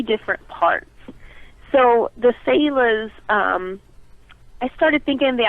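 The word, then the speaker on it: Selah: Is it Sailor? Pronounced Sailor? That's how I say it. I've heard people say Sela as well, but I think in Hebrew it's Sailor.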